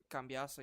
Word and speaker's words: Cambiaso: um Cambasio, is that how you pronounce his name? Cambiaso, yeah.